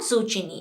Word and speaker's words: zucchini: Okay, we call it zucchini, बट इट इज़ नॉट zucchini, इट्स zucchini.